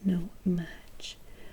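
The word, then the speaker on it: No-Maj: fantastic facts what is a no match pronounced no match the word is slang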